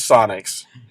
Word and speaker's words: Psionics: sin it coox sinx how do you say that pics Sonic whatever I think it's psionics but I might be wrong but you guys Sonics yes it is Sonics uh you guys did